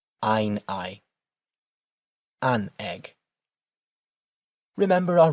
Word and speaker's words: Ei: We always pronounce it as we would say the second of those two letters in English.